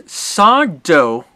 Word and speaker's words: Sardo: that wrong that's uh it's sardo no mister accent on the dough no mister accent on